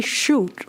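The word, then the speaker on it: Shute: Henry Shoot like it came from a gun.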